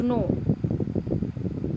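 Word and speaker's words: gnaw: To know, to know. G is silent.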